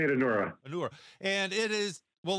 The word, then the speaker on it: Anura: We say it Anura.